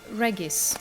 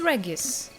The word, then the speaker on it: Regis: we're going to meet reggies i'm going to stick with the original pronunciation of that word which is regis that's how you pronounce it in latin and in polish so this is what